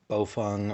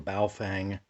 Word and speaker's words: Baofeng: just briefly today at this beaufung or baofeng however you want to pronounce it handheld ham radio you